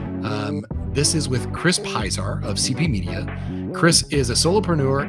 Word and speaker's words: Pisar: Just chop good off the end.